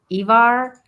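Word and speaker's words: Ivar: the Boneless yeah the the Scandinavian uh I is pronounced like the English e ah yeah that's why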